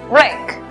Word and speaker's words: wreck: La W es muda. Por lo tanto, la pronunciación es wreck.